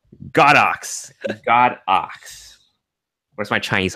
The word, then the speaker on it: Godox: in Chinese characters so that means it's pronounced got ox not go docks well maybe we'll find